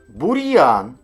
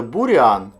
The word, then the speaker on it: бур'ян: так ми кажемо м'язи бур'ян якщо б не було апострофу ми б казали бурян А так ми кажемо бур'ян А зараз ми з вами